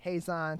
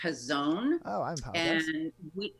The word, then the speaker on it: Hazon: off tell us what in normal times does Hays on Detroit do difficult to remember those normal times first up I just want to clarify it's actually pronounced his own no problem we are very accustomed to that